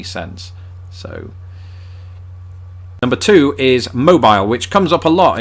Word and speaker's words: Mobile: wouldn't make any sense so number two is mobile which comes up a lot in conversations about the differences between British and American English mainly because of course Americans use cell phones British people use mobile phones but that's not where the difference is